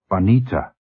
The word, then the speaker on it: Juanita: "Juanita. Juanita." He pronounced it carefully, accurately, in the Spanish fashion.